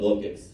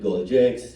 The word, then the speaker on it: Golgix: And uh I'll answer that question first and then get into the slides right why is it called gold gigs many people pronounced it gold jigs gold gigs and I've come across